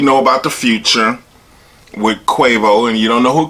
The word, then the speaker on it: Quavo: Because I'm sure y'all try to pronounce it. It's Quavo.